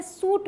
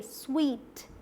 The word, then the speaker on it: suite: ये आते हैं SUITE, देखने में लगता है सूट बोला जा रहा है, जो गलत है। क्या है पता है, ये स्वीट, स्वीट।